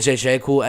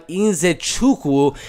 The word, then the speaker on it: Nzechukwu: I'm going to say it one more time, Nzechukwu. I think that's how you're supposed to pronounce it, but this is